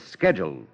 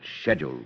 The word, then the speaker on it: schedule: An American says schedule. Only an Englishman pronounces it schedule.